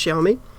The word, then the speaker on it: Xiaomi: a xiaomi that x-a-i-m-o-i phones um which is pronounced xiaomi a chinese thing actually amazing value for money